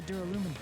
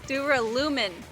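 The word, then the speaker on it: duralumin: in case as well dura lumen i pronounced it very wrong i said assume if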